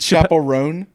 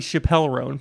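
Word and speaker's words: Chappell Roan: ago discovered who like I'm going to say the name wrong. Chapel Rowan is. Is it Chapel Roan? I thought it'd be Chappelle Rowan. Perhaps it's Chapel Rowan. Chapel Roan. Chapel Rowan. Yes.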